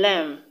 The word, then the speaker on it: lamb: The B in lamb is also not pronounced.